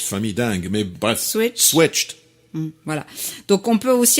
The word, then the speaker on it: switched: cas, la famille des verbes qui vont se prononcer avec la sonorité T. To Une switch, famille dingue, mais bref. Switch. Switched.